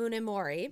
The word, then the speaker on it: Munemori: Now, I want you to help me pronounce this person's name, Sadao mm-hmm. Munemori.